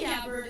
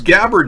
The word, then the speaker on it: Gabbard: Hey, Tulsi Gabbard is one of the more... Oh, it's Gabbard now. I thought it was Gabbard. I had her name pronounced wrong.